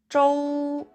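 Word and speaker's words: 粥: 죽을 아침식사로 먹는 데 즉은 준것 중국어로 줘 라고 발음합니다 중국인들은 만주를 아침 식사로도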